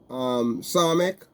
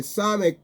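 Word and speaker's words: Samekh: Okay, now the Psalmic can be pronounced, depends on how the word is used, and it can be a C. Okay, it can pronounce as C and it can pronounce as S. Okay, as a sharp sound.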